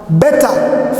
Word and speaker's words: beta: Beta from the word bed.